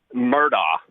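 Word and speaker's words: Murdaugh: mess How do you pronounce how do you pronounce their last names? Murdo.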